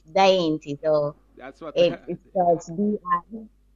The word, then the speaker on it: Diainty: But my name is spelled a little tricky, It's not Dainty, it's Diainty.